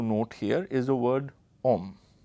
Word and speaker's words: homme: So, the first word that we have to note here is a word homme, right? [Note the spelling it has, an h which is silent] Now, in French the word homme means man.